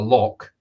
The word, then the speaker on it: loch: Now, people outside of Scotland, like Americans, when they come, they call it a loch, but it's pronounced loch.